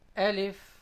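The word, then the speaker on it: ألف: the sound of anything Elif it is pronounced from the inner wet part of the lips also known as the hollow part of the mouth and if the next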